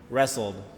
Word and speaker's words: wrestled: Wrestled. So you don't pronounce the T or the W.